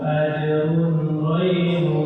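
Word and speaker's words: أَجْرٌ غَيْرُ: terkadang orang salah membacanya, ketika dikata ajrun itu kan nomor tanwin ya, ajrun bertemu dengan ghaib. Nah, maka harusnya dibaca apa? Hukumnya apa tuh? Tanwin bertemu dengan Allah. Hukumnya izhar, jadi dibaca jelas.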